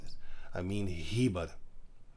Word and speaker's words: Heber: Eber, sorry, his name is Heber. I said Eber. I did not pronounce the H. Sorry, I pronounced this. I mean Heber, not Eber.